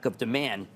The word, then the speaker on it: Nvidia: THE PEOPLE SAYING THIS ARE THE SAME PEOPLE THAT CALL THE STOCK LIKE IT RHYMES OR SOMETHING, LIKE IT IS THIS INSTEAD OF NVIDIA.